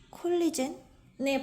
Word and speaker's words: collagen: 오늘은 어려운 단어들은 적었는데 이 콜리젠의 발음이 제가 알던 것과 달라서 놀랐어요. 이거 콜라겐이잖아요. 화장품이나 미용 분야에서 되게 많이 나오는 콜라겐의 발음이 콜라겐이 아니었다니.